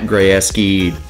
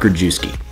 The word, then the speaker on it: Grayeski: You might have seen video where Matt Grayeski, that's how you say his name, by the way. It's not Grajewski.